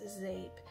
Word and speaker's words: Zeep: and the vendor is zape that's spelled z-e-e-p but it's pronounced zape and I have wanted to order from zape for a while but